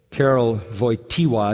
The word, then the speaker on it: Karol Wojtyła: After the death of his mother, when he was 8 years old, Karol Wojtyła is how you say his name, the Pope that died.